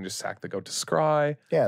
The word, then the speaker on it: scry: troll people ever since that one guy pronounced it as scree at the pre-release. And he kept saying it and I kept saying scry back.